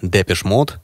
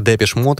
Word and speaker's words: Depeche Mode: еще более экзотичное музыканты сначала условились произносить indepth на французский манер с шай в конце по воспоминаниям друзей группы